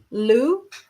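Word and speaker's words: Lugh: a little bit because it's so hard to pronounce. So I know um to call it Luna. Lou is uh the god of many skills.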